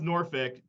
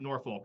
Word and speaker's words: Norfolk: Yeah, it's pronounced Norfolk. If you want to be a heel, pronounce it Norfolk, though.